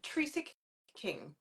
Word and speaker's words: Trecek-King: name for everyone so that I do not mispronounce it yeah Teresa King okay well I was going to mispronounce it